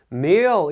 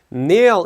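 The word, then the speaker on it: kneel: 맞춰 아까 말씀드렸던 건데 네어 이라고 하는게 무릎 꿇다 란 뜻입니다 이게 k 가 있기는 한데 케이가 있다고해서 발음이 큰 요 크네요 이렇게 되는건 아니고 야 테이가 묵음 이 되기 때문에 내어 이 되는데 제가 여기 괄 볼을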